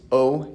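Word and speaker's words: を: is new is whoa it's usually just pronounced Oh even though it's written with a W in O most of the time has just said o but it always comes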